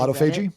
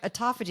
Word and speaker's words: autophagy: and you know how you mispronounce a word because you've only autoagi. Yeah, autoagi. I said the same thing. It's autoag. And then they're like autophagy.